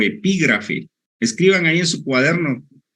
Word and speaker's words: epígrafe: Pero para esto no entonces escriban acápite o epígrafe acapite o epígrafe son dos palabras esdrújulas acá y te lleva acento en la segunda a y epígrafe tiene lleva